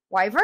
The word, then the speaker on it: Wyvern: Vern Wyvern. Wyvern. Wyvern. Wyvern. Wyvern. Yeah, that's how you say it. Wyvern. Yes. Like Wyburn.